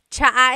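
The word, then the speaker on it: tsaa: And it's spelled T S A. Cha. Cha. That's such a Tagalog spelling. I love it. There's the ts sound and then the double vowel uh pronunciation.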